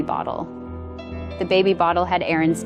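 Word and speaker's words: Aryn: Her name is spelled A R Y N, pronounced Aaron.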